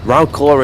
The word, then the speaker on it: Wrocław: Sorry, Wrocław is how they pronounce it, isn't it?